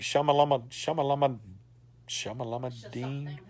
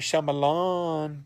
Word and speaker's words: Shyamalan: How do you say his name? M. Night Shyamalama Ding. Shyamalama Ding. M. Night Shyamalan.